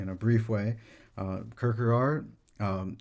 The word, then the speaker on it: Kierkegaard: a brief way uh kirkerart um in danish his name sounds more like kirk or kirk gore kirk i'm going to